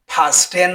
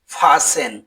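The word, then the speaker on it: fasten: এফ এ এস টি ই এন এর উচ্চারণ ফাস্টেন হবে না। এর উচ্চারণ হবে ফাসেন যার অর্থ হল শক্ত করে বাধা।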